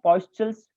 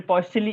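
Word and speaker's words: Poiseuille: इसको हम कहते हैं पॉइस्चल्स इक्वेशन या फिर पॉइस्चली इक्वेशन, है ना, जैसे आपको प्रोनाउंस करना है पॉइस्चली इक्वेशन।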